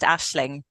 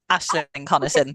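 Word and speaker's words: Aisling: Asing so yeah my full name is it's pronounced Ashling Ashling Irish spelling name yes Ashley hello and where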